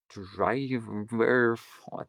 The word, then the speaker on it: Drijver: And then driver, the name's really shitty because if you don't know it, it's spelled Drijver, like driver, but there's a J in there.